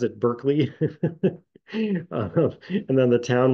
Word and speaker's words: Berkeley: the University of California was campus was named Barkley it should be but we pronounce it Berkeley um and then the town was named after